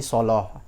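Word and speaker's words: الصلاة: ghaibi wa yuqimuna shalah, yang ada kata-kata sholah, habis huruf shad itu ada huruf lam. Lamnya itu karena diucapkan setelah huruf shad yang nama huruf berat, huruf itbaq, maka lamnya juga menjadi menjadi tebal begitu. Itu sholah menjadi sholoh, wa yuqimuna sholah.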